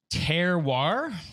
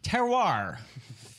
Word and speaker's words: terroir: episode of texas whiskey it's like the little dog right terrier yep hello and welcome